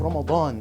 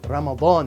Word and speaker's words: Ramadan: in the month of Ramadan I'm going to pronounce it correctly Ramadan not Ramadan Ramadan and in Ramadan we'll